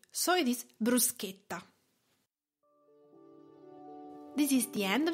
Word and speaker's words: bruschetta: important thing now is the pronunciation how to spell it Bruce guitar is B R u s CH e TT a so it is not bruschetta why you must